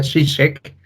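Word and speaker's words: Žižek: del libro de Ya por lo menos sé que se pronuncia chicheck listo sobre el Sublime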